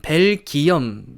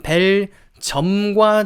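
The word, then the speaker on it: Belgium: 좀 들어 보셨을 것 같은데 이렇게 베일 질염 벨 기염 lg 5 뭐 그런식으로 좀 생각을 해 보실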